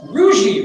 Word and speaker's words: Rougie: Oh, Rougie rhymes with bougie.